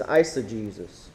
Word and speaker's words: eisegesis: The next word is eisegesis.